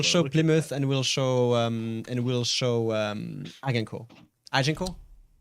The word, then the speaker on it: Agincourt: We'll show Plymouth and we'll show Agincourt. Agincourt? Agen. Agincourt. Yeah. Yes. Of course, that's not how you say it in French, but the British won that battle.